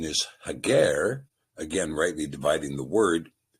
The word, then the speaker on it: Hagar: Now in this particular passage the sepher uses the word hagar as compared to the name Hagar which has been a pronunciation given to us by the maseretic nicodote. We believe the proper pronunciation is hager again rightly dividing the word and in the